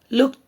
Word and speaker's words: looked: there the moon looked this is not looked looked t okay t sound again